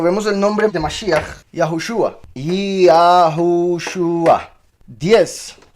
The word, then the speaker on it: יהושוע: Ambos se pronuncian Yahushua, por si algo.